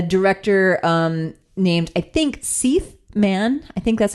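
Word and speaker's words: Seith Mann: And it's directed by um a a director um named I think Se Man. I think that's how you pronounce his name. It's spelled like Keith except with an S.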